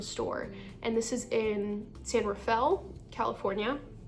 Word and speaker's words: San Rafael: And this is in San Rafale, California, not San Raphael as my roommate from Oklahoma likes to pronounce it.